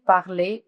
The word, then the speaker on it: parle: Ça, c'est comment vous allez écrire parler conjugué au présent de l'indicatif. Comment vous allez prononcer? Alors, vous allez dire je parle. No tiene acento la E, alors no la pronuncian.